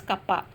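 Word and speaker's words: κ: It is represented by the symbol K, that is pronounced as kappa.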